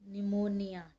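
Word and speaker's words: pneumonia: मैं आपको पता है इसमें आपका पी साइलेंट होता है को निमोनिया ठीक है तो चलिए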